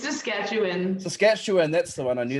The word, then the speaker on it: Saskatchewan: Saskatchewan, that's the one.